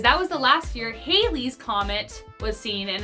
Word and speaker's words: Halley's: I mean, I thought it was Halley's or Halley's. I don't know. To be fair, my roommates and I got into a fight about how it's pronounced, and even the internet is indecisive on how it's pronounced, so I'm gonna say it both ways.